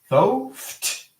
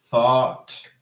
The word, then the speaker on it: thought: So thoth, no. Thoth, no. Thoth, no. Thought. Yes. Thought, the past of think. Okay. So again, here, the digraph is silent.